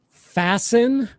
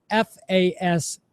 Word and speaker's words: fasten: So fasten, just for everybody listening or watching, it's spelled F-A-S-T-E-N. You do not pronounce the T.